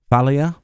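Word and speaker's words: Thaleia: part three is now named phaleya Thalia that's how they pronounced it yoship says they have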